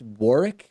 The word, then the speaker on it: Warwick: So to me, it looks like Warwick, but is it pronounced Warwick? Like the second W is silent?